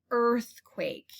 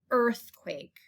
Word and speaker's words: earthquake: going to find is earthquake spelled e-a-r sounds like er earthquake the next word that